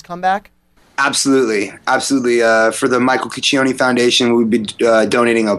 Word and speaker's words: Cuccione: member of the band, Michael Cuccione, I believe is how you say his last name. Correct, Alex? Cuccione, yeah.